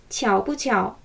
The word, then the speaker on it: 巧不巧: 그리고 긍정과 부정을 연이어 쓴 표현에서 가운데 뿌는 경성으로 가볍게 발음하시면 됩니다. 그래야 말을 빨리 할 수 있어요. 해볼게요. 巧不巧 한 번 더.